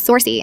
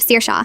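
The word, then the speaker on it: Saoirse: Sersa who becomes Sorsy instead of Sir Shaw but go forbid you say Mrs.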